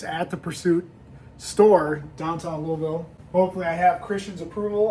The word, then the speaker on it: Louisville: So we've been educated on the proper way to say Louisville. It's not Louisville. Lou.